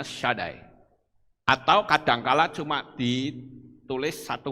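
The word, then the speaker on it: שדי: saudara lihat di itu ada tulisan Sin dalet itu membacanya shadai atau kadangkala cuma ditulis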